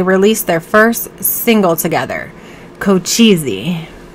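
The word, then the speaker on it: Cochise: their first single together kochizi i say it like that like go cheesy i didn't even know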